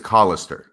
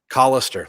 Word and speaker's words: Callister: always important those initials and actually it's collister collister look at that yeah so don't be mispronouncing his name not to be confused